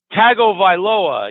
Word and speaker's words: Tagovailoa: It's Tagovailoa.